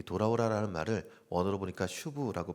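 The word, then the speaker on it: שוב: 이 돌아오라라는 말을 원어로 보니까 슈브라고 발음합니다.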